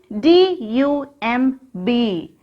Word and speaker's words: dumb: D-U-M-B. How can we read this? Dumb. Repeat it, children. D-U-M-B. Dumb. Here, letter B is silent.